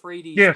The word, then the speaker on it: Fredes: the best Punisher game my last name is pronounced Fredy by the way oh is it is